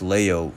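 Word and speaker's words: Liu: in subsequent generations with Leo this is spelled l i u which is pronounced Leo in Chinese and Chi s c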